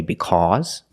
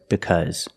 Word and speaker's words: because: heavy New York accent, you might hear Americans say because. But that's only in New York. The rest of America says because. This is the normal pronunciation of the word. Because. Make the relaxed close sound.